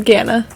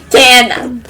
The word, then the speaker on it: Ghana: Just no H, huh? Just Ghana. Yeah, I've heard it pronounced as, I've only ever heard it pronounced as Ghana.